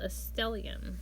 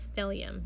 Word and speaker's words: stellium: was like you know it's actually a Latin word is called still IAM not still young her name is stormy